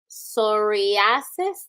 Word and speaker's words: psoriasis: Psoriasis Day? P is silent.